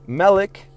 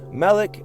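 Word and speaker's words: מֶלֶךְ: Now in Hebrew, Melech, king, and Molech, the deity, are spelled the same, MLK, but the vocalization and context differentiate them. Melech, king, uses standard vowel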